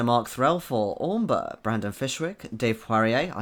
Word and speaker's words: Poirier: Russell Higgins, Jolly Mangina, Mark Threlfall, Ormber, Brandon Fishwick, Dave Poirier, I said it right this week, AJ, Fuke Enterprises, Nate Hanshin, Philip Bate, and Elizabeth Chai Praditcool.